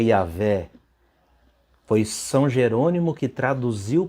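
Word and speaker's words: Yahweh: e tem religião aí igrejas né protestantes que falam Javé mas é yaveh foi São Jerônimo que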